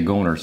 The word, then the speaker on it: Goehner's: but here it is g-o-e-h-n-e-r apostrophe s will say goners I'm probably going to butcher the name I hope not but